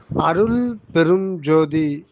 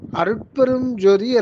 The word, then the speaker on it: அருட்பெருஞ்ஜோதி: அம்மா வந்தனம் அம்மா வந்தனம் அருட்பெருஞ்ஜோதி அப்படின்னு உச்சரிக்க கூடாதும்மா அருட்பெருஞ்ஜோதின்னு தான் உச்சரிக்கணும் அருட்பெருஞ்ஜோதியை பிரிச்சா நீங்க சொன்ன மாதிரி அருள் பெரும் ஜோதி அருள் பெரும் ஜோதி இந்த மூன்று வார்த்தைகளும் இணைக்கப்பட்ட ஒன்றுதான் அருட்பெருஞ்ஜோதி அந்த தமிழ்ல வந்து சில